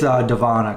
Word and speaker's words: Devona: Devona Jennings said she has got to run. I think it's Devana because she messaged me and told me how to pronounce it.